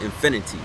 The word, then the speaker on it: Infinite: It's spelled infinite, but we pronounce it infinity.